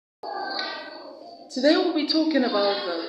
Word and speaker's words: today: We have that sound at the beginning of the words around, also, again, and at the first syllable of the word today, and the first syllable of the word tomorrow. Tomorrow.